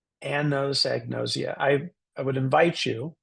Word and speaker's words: anosognosia: a doctor about it this is how you can pronounce it Anns egg nosia I always think of a woman named an who knows an egg and she's very nosy an knows egn noia I I would invite